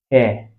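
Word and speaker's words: heir: Hair. Okay. Almost as though the H is silent.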